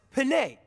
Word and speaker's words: Penne: Actually, it's pronounced penne. Like the spaghetti, y'all.